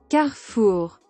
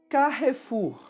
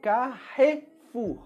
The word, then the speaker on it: Carrefour: Carrefour. No Brasil, nós falamos Carrefour. Carrefour. No português brasileiro, todas as vogais são bem pronunciadas, então Carrefour.